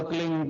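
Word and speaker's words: क्लीं: की मात्रा और बिंदी उसका उच्चारण होगा क्लिंग प आप अंग बोलो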